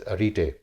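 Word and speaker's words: arete: नाम था अरीते अरीते ग्रीक language में ये ए आर ई टी E this इ प्रोनाउंस एज अटे और अटे का मतलब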